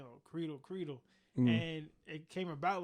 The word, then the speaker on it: Credle: far as like how it's supposed to be pronounced. So originally, my first 18 years of my life, my parents kept saying, "Oh, Credle."